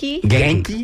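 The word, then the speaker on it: 元気: How do you pronounce that? Genki. Genki. Like with a Hard G? G. Hard G. Yes. Genki. Yes.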